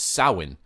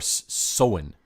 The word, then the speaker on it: Samhain: Gaelic festivals known as soin or soin but not Samhain wasn't it it's spelled Samhain though it is it's spelled s am h AI n but it's not pronounced that way and you have all